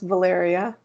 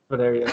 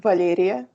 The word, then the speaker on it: Valeria: So actually, my name is pronounced Valeria. Valeria. Okay. Everyone Fair. gets it wrong. It's okay. Yeah, because it's a Russian name. So in Russian, it would be pronounced Valeria.